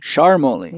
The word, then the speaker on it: Charmoli: Charmoli. Charmoli. That's it. I'm glad I asked. Otherwise, I've been maybe using your name wrong.